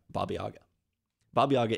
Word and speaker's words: Baba Yaga: tales for instance um some people might not be happy with my pronunciation but I think that's a pretty common way to say it in the US at least probably is a witch